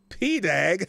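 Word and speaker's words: PADAG: 42 years old and His official title was principal associate Deputy attorney general pronounced P dag oh wow p-dag no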